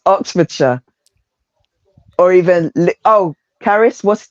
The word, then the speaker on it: Oxfordshire: um when you're um like Oxfordshire you guys would say Oxfordshire we no no we don't say that it's Oxfordshire or even oh Charis